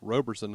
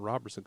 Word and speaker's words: Robertson: They say it's Roberson, not Robertson, because there's not 2 B's.